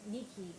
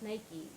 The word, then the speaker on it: Nike: um my father used to always be like Nikki because he had a you know Aran accent